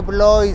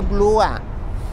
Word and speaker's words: Blois: me dice los chamacos, no se dice Blois, se dice Blua. Y yo, ay, sorry. Porque resulta, y se los digo para los que no hablen francés, cuando hay una O y una I juntas, se pronuncia UA, no OI.